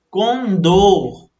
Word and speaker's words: condor: O certo seria Condor, ruim e Nobel, porque elas são oxítonas. Veja, Condor, a sílaba mais forte é o do.